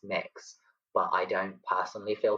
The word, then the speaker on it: Mx: a non-binary title of MX which is pronounced mix but I don't personally